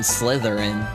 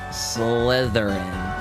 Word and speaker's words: Slytherin: I think I might do that name Slytherin. I think that's how you pronounce Oh, no. You're supposed to do it. Yeah. Slitherin with a th. I think that's how you spell the name. Slytherin.